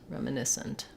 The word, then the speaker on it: reminiscent: then we also have reminiscent um and then in that case it's reminisce sent reminiscent or Aunt reminiscent not a reduced vowel in that last syllable okay and then also